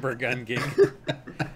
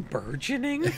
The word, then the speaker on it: burgeoning: I'm like, you mean burgeoning? And he's like, is that how that's pronounced?